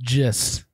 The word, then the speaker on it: gist: That's It's spelt gist, but it's pronounced gist. Thanks. To gist Thanks. Something. He just said it's spelled gist, pronounced gist. Well, it's spelled with a gist. G, but then they do the pronunciation and it's with a J.